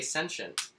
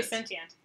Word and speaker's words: sentient: of of I say sensient no you don't I say sensient you say sensient I say I say sentient and uh part of